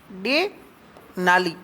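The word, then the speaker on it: Denali: चोटी mount McKinley या डेनाली, डेनाली नहीं डेनाली, भले डेनाली याद रख लो अपने, ड और द का प्रोनाउंसिएशन में याद जैसे रहे।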